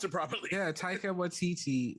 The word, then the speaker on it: Taika Waititi: You were the one who telling me how to pronounce it properly. Yeah, Taika Waititi.